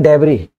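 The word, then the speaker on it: debris: उसको हम बोलते हैं डेबरी। और डेबरी में एस लगता है। ये देखिए डी ई बी आर आई एस।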